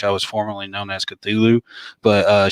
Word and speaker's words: Cthulhu: was formerly known as Cthulhu, but she pronounced it as Chihulu.